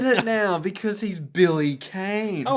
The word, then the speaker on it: Kane: now because he's billy kane oh apparently his family named kane is meant to be pronounced like khan or khan as in james khan an american actor what khan yeah billy